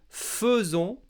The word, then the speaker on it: faisons: première c'est que à nous nous disons nous faisons alors que cela s'écrit nous faisons alors attention dis bien